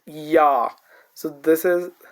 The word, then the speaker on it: ya: say yak, we say ya, ya. So this is how it is pronounced like. So IA has the sound as ya, and whenever it is a stand alone syllable.